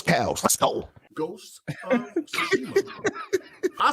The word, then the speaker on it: Tsushima: It's Ghost of Tsushima.